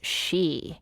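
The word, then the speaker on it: sidhe: proper Irish about it the e She which is spelled a oos s i d h e e she now unlike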